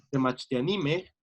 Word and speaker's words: temachtianime: tenemos una sílaba más, el acento se recorre y ya no es te, mach, ti, a, ni, sino te, mach, ti, a, ni, mej. Siempre va a ser la consonante penúltima.